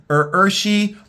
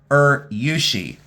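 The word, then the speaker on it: urushi: This is, and you could say it two different ways. It's Urshi or Yushi. There's two different ways to pronounce it, and it's a lacquer.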